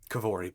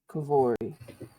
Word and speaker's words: Kavori: I am Kavori, by the way. Kavori. How do you spell that? Kevori. Can you type it out in chat? It's like Kevin, but Ori at the end.